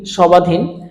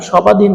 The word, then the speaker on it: স্বাধীন: সময় বলছি সবাস আমরা কি কোন সময় বলি সবাধীন আমরা কি কোন সময় বলছি ধবনী না আমরা বলছি কি সাস অর্থাৎ বফলার উচ্চারণটা এখানে হচ্ছে না অর্থাৎ এখানে যদি আমরা